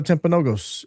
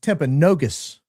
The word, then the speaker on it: Timpanogos: Uh did CK actually go to Timpanogos? Oh, I learned it's not Timpanogos, it's Timpanogus.